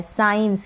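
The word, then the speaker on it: science: साइंस, क्या बन गया ये? साइंस। इस तरीके से लास्ट में यहाँ पर भी ई है तो वहाँ पर भी हम ई का उच्चारण नहीं करेंगे।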